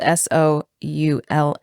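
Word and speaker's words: Soula: like dou it's spelled s o u l a like Doula with an s yes but what but they pronounce it Soul like Soul uh I know Soul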